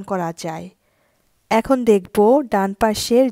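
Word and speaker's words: pesce: দিয়ে এখন বুঝিয়ে দিব এস এ যার উচ্চারণ সিপা শারপা অর্থ মাপলার পরেরটা এস এ যার উচ্চারণ সে পেশে কোন শব্দের মাঝখানে এসএই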